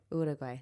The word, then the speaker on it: Uruguay: Uruguay.